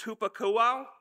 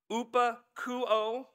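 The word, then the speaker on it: ὑπακούω: Obey in the Greek is hupakouo, upakouo. I had to phonetically write it out so that I would say it right.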